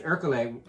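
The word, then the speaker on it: Ercole: Whereas, you know, he's trying to, if Hercule, is that how you say it?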